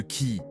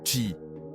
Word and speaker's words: Ki: l'acupuncture est basée sur le concept de Ki prononcé chi le Ki est l'énergie